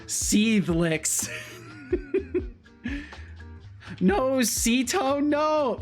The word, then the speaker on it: Setolyx: Setolyx is fine. Setolyx, Setolyx. Usually it's one of those two that people fall into. The original intended pronunciation that I had in mind was Setolyx, but I'm fine with whatever, as long as you don't call me like Ceto.